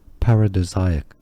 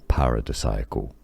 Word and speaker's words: paradisiacal: Now, alternatively, and those are also correct pronunciations, paradisiacal, you can say as well, or pronounce the S like a Z. Paradisiacal as well. So you do have different pronunciations, whether you have the third pronunciation as a die or a duh, and the S as a Z or a Z or an S sound.